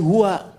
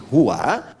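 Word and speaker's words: هو: Nah, huwa itu kalau kita ingin berhenti di huwa, maka A-nya nggak dibaca. U. Contoh ayat kursi Al-Baqarah ayat 255. Allahu la ilaha illa hu. Huwal hayyul qayyum itu kalau nyambung, kalau berhenti di hu, bacanya hu.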